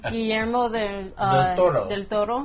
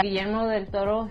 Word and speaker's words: Guillermo del Toro: Roll that R, bro.